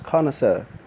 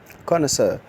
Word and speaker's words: connoisseur: double s e you are the word is pronounced as connoisseur connoisseur I kind of say someone who has an